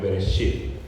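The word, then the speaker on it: בראשית: Esta misma se pronuncia en hebreo Bereshit, y así es como le hemos puesto a la serie.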